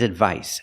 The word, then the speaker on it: advice: And the second word is advice. The C makes the S sound like in star and sun.